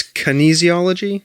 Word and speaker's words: kinesiology: to say the word okay so it's it's kinesiology yeah okay all right so help us understand what is kinesiology and what is this thing you studied this